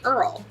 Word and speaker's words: IRRRL: eligible to do what's called a VA Earl it's irrrl that's how you spell it interest rate reduction refinance